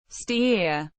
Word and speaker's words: Steyr: Steia German pronunciation tar is a statutory city located in the Austrian federal state of Upper Austria.